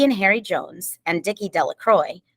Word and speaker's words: De La Croix: Harry Jones and Dickie De La Croix the villagers pronounced this name Della Croy eventually made a great